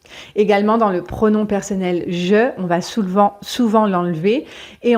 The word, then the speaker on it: je: pas, on va dire je sais pas. Et comme je vous ai expliqué précédemment, on ne prononce pas le E de je, donc on va dire je sais pas, je ne suis pas, je suis pas dispo samedi.